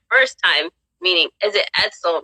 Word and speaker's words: Edsel: this is my first time meeting is it edsel right they pronounce it correctly that's correct yes so uh